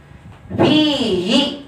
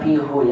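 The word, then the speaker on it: فيه: Bukan fihu ya, tapi fihi. Kenapa harokatnya berubah jadi kasrah? Karena harokat sebelumnya kasrah juga. Ini kan ianya sukun. Kalau fihu itu susah.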